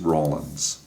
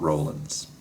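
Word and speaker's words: Rawlins: Jeff West actually uh did a lot of flying over there uh years ago and he corrected me on the pronunciation. It is Rollins, not Rollins.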